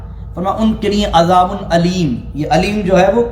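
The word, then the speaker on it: أليم: ایک ہے علیم، علیم عین سے، ایک ہے علیم الف سے. وَلَهُمْ عَذَابٌ علیم، یعنی ان کے لیے دردناک عذاب ہے.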